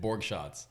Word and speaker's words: Borgschatz: what'd you guys think how do you say it Borg shots I've never seen it spelled so uh org and like like you're taking shots easy shots easy enough it's pretty easy yeah